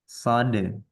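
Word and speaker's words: ص: yaitu Sin dirahang tipis Nah kalau Shad dirahang tebal ahah berarti shod itu yang tafkhim ya Bu ya nah jadi kalau ini dibacanya sa sa kalau Sod dibacanya SH Ah coba Ibu mengucapkan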